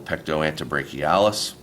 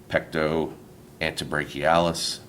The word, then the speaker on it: pectoantebrachialis: That is called the pectoantebrachialis, and it lies on top of the pectoralis major.